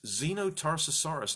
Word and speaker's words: Xenotarsosaurus: and for sharing the Zeno Tarsus horas written by mr. Mike so here it is a dinosaur that starts with letter X of course you should pronounce it like a Z it's so complex there